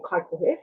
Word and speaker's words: Kaikohe: I'm born and raised in a small town called Kaikohe, or Kaikohe, as it's pronounced by us locals.